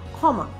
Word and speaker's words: ক্ষমা: মুখস্তের দরকার নেই তোমার যখনই তুমি খিয় ধ্বনিটা শব্দের শুরুতে লিখছো তখন কিন্তু তোমার খিয়র উচ্চারণটা হয়ে যাবে খ এর মত এটাকে তুমি বলছো ক্ষমা এটিকেই তুমি একটা নিয়ম